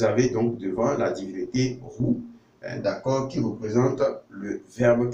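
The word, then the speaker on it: Hu: Roux, d'accord, ça s'écrit également comme ça, HW.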